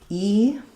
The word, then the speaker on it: Eden: Eden actually is stressed on the first syllable, so letter E does say E. Eden, and almost no vowel for both garden and Eden.